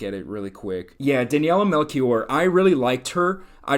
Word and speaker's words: Daniela Melchior: Yeah, Daniela Melchior.